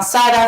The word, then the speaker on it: Xara: que la pueden encontrar, se llama Xara, se escribe XHARA.